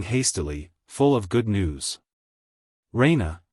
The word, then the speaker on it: Raina: full of good news Raina she pronounces it rhena with the stress on the E Raina she goes to